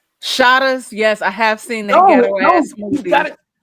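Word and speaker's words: Shottas: the movie Shas shat no it's pronounced shatas shatas yes I have seen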